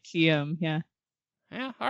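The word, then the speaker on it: Aharietiam: I say Aharietium. Whoa. Ooh, I But like the- that E gets its own syllable. It's like Harriet. Aharietium.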